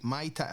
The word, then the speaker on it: Muay Thai: Aye, that is how you say it, MyTy. That's how you say it? You say it like the fucking fruity drink, MyTy? Aye, that's the best way to say it, because you've got all these people say Muay Thai, Muay, and all that.